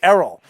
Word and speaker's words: Errol: say what's going on earl and i said my name is not earl it's errol pronounce it right and then i get